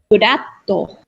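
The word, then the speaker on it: フラット: But in Japanese, it's furatto. So it goes up in the middle.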